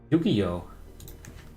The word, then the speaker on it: Yu-Gi-Oh!: Yu-Gi-Oh! It's spelled like this, Yu-Gi-Oh!